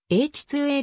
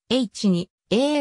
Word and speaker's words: H-IIA: he あロケットで発音は英知 2 a ロケットであるが新聞やテレビなどの報道では h 2 a ロケットまたは age - 2 ロケットと表記され h 2 a ロケットと発音をされる場合が多い er ロケットは先代